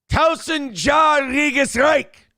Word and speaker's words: Tausendjähriges Reich: Help me out with this pronunciation here. Tausendjähriges Reich.